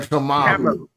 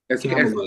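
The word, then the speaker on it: Kamala: But they gonna say Camala. Camela is how it's pronounced.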